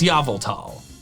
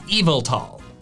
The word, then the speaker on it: Yveltal: refer to it as Yveltal. But I wanna be clear, for those who are not aware of the backstory behind this, I know that's not the correct pronunciation. The correct one is Yveltal.